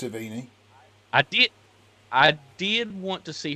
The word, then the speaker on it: Sevigny: I think it's pronounced Savini.